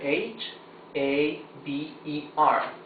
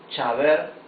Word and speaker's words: haber: We don't say chaber or haber. That's because in Spanish, letter H is totally mute. So, we don't pronounce the H.